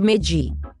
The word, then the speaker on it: MEJJI: Okay, let's try it slowly. Say me. Ma. G. Chick. What is wrong with you? Why can't you pronounce the beautiful name? It is Magi.